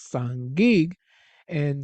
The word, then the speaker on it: Sangiga: that, of course, is Sangig. And the cuneiform sign there, you see the is pronounced as in sing, Sangiga.